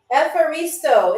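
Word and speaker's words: ευχαριστώ: Efaristo. It is spelled Efharisto. Efaristo.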